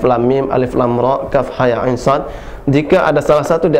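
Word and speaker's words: كهيعص: Jadi kaf 6 harokat, ya, ha dan ya 2 harokat, ain dan shad 6 harokat. Jadi dibacanya kaf ha ya ain shad.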